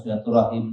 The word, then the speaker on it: silaturahim: Tentu pengucapannya ada dua. Ada silaturahim, ada silaturahmi. Kilahuma waridatan.